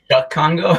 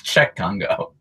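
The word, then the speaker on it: Cheick Kongo: Chuck Congo? I believe it's Czech Congo.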